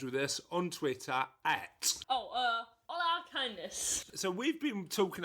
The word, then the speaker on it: hola: Hola, kindness. So we've been talking over the last few weeks about how you pronounce hola.